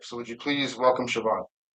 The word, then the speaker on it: Siobhan: It is not bahan, it's not. It's not chevron. It is shon.